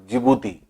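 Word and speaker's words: Djibouti: हैं आप यह देखिए जिबूती डी से लिखा जाता है DJ आईजीबीओ यूटीआई भी लेकिन साइलेंट है इसको जिबूती पड़ते हैं तो इस तरह से आप हुआ था चेंज 1 जिबूती चड्डी जो है वह साइलेंट होता है इसलिए जिबूती देश हैं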